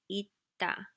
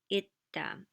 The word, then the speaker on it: 있다: 있다. And the funny thing is, you don't hear the s sound. 있다.